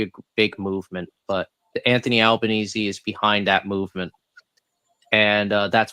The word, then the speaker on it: Albanese: No, Anthony Albanese. There we go. Well, actually, it's Albanese, but they pronounce it Albanese.